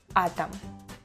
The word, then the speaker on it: атом: Act, tact, атака, мама, том, кот, атом. Talking about this word. The word is written like atom, but instead of letter O, I say A. That happens very often with letter O.